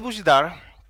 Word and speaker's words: Bozhidar: from the bus so my name is Bidar but you can't pronounce this my some of my friends call me which is cool but is not the same as and uh to make